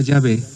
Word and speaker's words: Yahvé: Porque al tetragramatón, que podríamos pronunciar Yahvé, se le pusieron unos signos vocálicos correspondientes a Adonai.